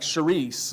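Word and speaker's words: χάρις: sound in English, but it would be like charis, like cherish, but that CH, it makes that guttural sound that we don't really use much of in English.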